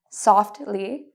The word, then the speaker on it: softly: So if you see S-T-L, F-T-L, these are signs that you usually pronounce the T. What are some examples? Well, you can pronounce the T. Lastly, you could also say lastly. It's okay either way. Justly, mostly, softly. You can say it with or without, depending on where you're from.